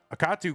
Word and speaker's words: Akatu: On the right side of your screen it's Akatu. I always say akatu, but uh I'm sure it's a katu cuz the middle syllable is capitalized.